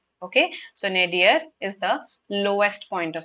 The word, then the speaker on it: nadir: for that is this is how it is pronounced okay so nadir is the lowest point of something okay hope